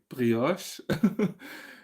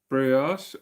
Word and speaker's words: brioche: So I had problems as well because brioche is a French word, so I will most probably just pronounce it the French way, brioche, which is also something very, very yummy. So in case you have never had brioche, and but I think in English it's what, brioche.